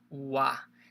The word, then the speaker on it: は: Other thing is, if you learn katakana, hiragana, this is the ha, but also in this case, we're going to be pronouncing it as a wa.